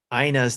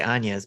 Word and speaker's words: Ina: But for me, what I've been playing is Aspire on Ina's Tale. I keep wanting to say Anya's, but it's not Anya's, it's Ina's. I had to look it up because it's spelled INA.